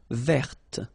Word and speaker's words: verte: Feminine form, verte. So listen carefully. I don't say te, but it's t. Verte. Verte. Okay, so as usual, this final E only gives you the possibility to pronounce this t, t.